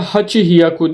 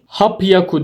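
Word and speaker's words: 八百: rop yaku nan hyaku 800 de yine bir istisna bu 100 ve katlarında 3 istisna var burada da Hachi hyaku demiyoruz hap yaku diyoruz q hyaku burada istisna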